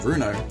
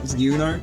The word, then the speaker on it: Ryuno: Got it. Susie and Bruno. It's Ryuno, actually. You gotta pronounce the y.